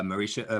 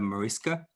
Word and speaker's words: Mariska: really inspires me uh marisha mariska that's how you say her name the other time i